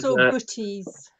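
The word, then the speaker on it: boeties: Well, I saw, Yeah, there was, booties. Oh, is that how Yeah. you pronounce that?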